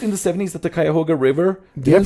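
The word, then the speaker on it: Cuyahoga: it wasn't it in the 70s that the Kyhoga River Did I pronounce that right?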